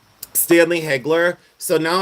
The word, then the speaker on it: Hegler: but uh the and it's Hegler by the way because people are saying you're saying it wrong. No, it's Hegler. That's exactly what it is.